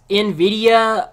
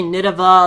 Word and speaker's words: Nvidia: Well, the heated most Zephyr, it's pronounced Nvidia. Well, I sometimes say Nidava, others pronounce it Nvidia, others even say Ninvita or whatever.